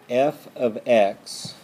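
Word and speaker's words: f(x): not this is a function and it is pronounced f ofx like this f of x = 2x +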